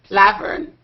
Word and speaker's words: Laverne: It's Laverne. Laverne. French, Laverne. Laverne.